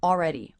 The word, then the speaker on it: already: I also notice I'm not really pronouncing the L here. This syllable is coming out more like the aw as in law vowel. Already, already.